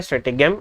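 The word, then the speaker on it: stratagem: तो स्ट्रैटेजम जो होता है, या स्ट्रेटेगम, आपकी प्रोनाउंसिएशन स्ट्रेटेजम होता है वैसे ये।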